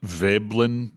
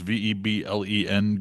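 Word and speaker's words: Veblen: You know, there's a a concept in classical economics called the I think it's pronounced vellin goods, veb blen goods.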